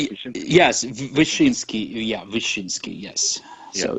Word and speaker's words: Wyszyński: Yes, Wyszyński.